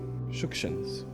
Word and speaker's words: Shukshins: I say the surname with the emphasis on the first syllable because that's the correct way to pronounce it. Yes, Shukshins.